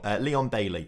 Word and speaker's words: Leon Bailey: that but either way i was saying it all wrong leon bailey is apparently the correct way to say it so apologies there were